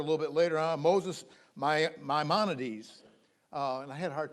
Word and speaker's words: Maimonides: Moses Maimonides. And I had a hard time pronouncing that name.